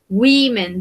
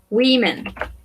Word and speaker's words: women: Women. Very good, Nata. So we say women. Women. Recordemos que acá esta O se va a pronunciar como una I, ¿sí?